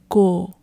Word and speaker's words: cô: On the other hand, if your dad has a younger sister, you call her as Cô, Cô.